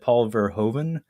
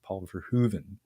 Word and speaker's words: Paul Verhoeven: I had said Paul Verhoeven my entire life, Brad. But my fiance is of Dutch heritage, and I was corrected. Paul Verhoeven is how I was told to say that one.